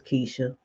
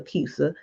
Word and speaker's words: Kisa: She says it's Keisha. I like to call her Kisa because it's spelled like Kisa, Kisa. Please tell me I'm saying it wrong.